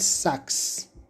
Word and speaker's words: Sachs: Tem um autor americano chamado Leonard Sachs. Se escreve S-A-X, né, o último nome dele.